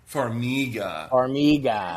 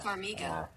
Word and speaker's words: Farmiga: Say, how do you pronounce Vera? Yeah. Here we go. Vera Farmiga. Farmiga. Farmiga.